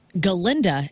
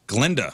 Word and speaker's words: Galinda: talk about this because Ariana Grande who plays galinda as she pronounced it on SNL last weekend but I've been pronouncing it since Glenda Glenda the Good Witch dude yeah she say